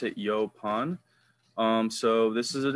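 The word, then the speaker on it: yaupon: next year we're gonna talk about is a yo pawn Holly that's how you pronounce it yo pawn um so this is an example of a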